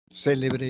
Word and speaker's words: célebre: ejemplo podríamos decir celebre célebre y celebré cada palabra por la ubicación del acento tiene tiene distinto significado también podríamos decir por